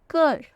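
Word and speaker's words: cœur: एग ऐसा ही एक और वर्ड होता है कर कर कर का मतलब होता है हार्ट फिर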